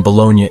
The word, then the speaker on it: bologna: There's a reason many meat packages spell it bologna. The word bologna derives from Bologna, Italy, and is one of the hardest English words to pronounce.